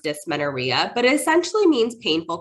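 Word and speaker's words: dysmenorrhea: um doctor now there is a condition called dis Menara I know it's a long word um pronounced d Menara but it essentially means painful cramping Sensations and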